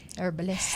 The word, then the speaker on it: herbalist: With a silent Herbalist. H? With a silent H? Or is it an ETCH? H? With a silent H? Or is it a herbalist?